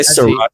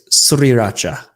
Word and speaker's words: sriracha: Or people say sriracha all the time, but it's sriracha. Sriracha. It is? There's an R. SR.